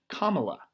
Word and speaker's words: Kamala: president is kamala harris i believe it's actually actually pronounced kamala harris let's take a look